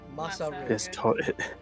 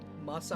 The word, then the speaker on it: Masaril: Masaril. It's super not mycelium like I thought you said. No, Masaril.